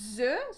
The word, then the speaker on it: œufs: Un œuf, des œufs. We have the same letters, but not the same pronunciation.